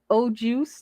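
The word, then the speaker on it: au jus: salt she calling it o juice no it's it's o apostrophe it's a French word and the S is silent yeah there we go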